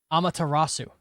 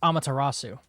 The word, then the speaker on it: Amaterasu: I put say Amatarasu. It's pronounced Amaterasu.